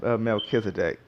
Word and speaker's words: Melchizedek: McKissack Melchizedek I want to pronounce it wrong but believe it's pronounced Melchizedek and I want to go